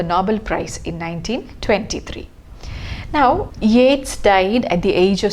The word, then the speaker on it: Yeats: some of you have been reading this as eats just like you would read k-e-a-t-s-s keats but then you should remember that this word is pronounced not as yet it is yates and often this my students when i value